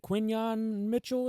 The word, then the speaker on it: Quinyon Mitchell: How do you pronounce it? Quinyon Mitchell, is it?